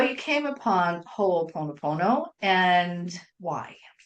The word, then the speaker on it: Ho'oponopono: Ho'oponoponoponoponopono.